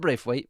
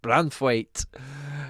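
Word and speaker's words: Branthwaite: cheers for that one not bra weight brand fight that's the one but yeah inflated prices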